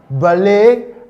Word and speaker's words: ballet: Because in our lesson we said this sound has a silent, it's pronounced buffet, it's pronounced ballet, and it is pronounced debut.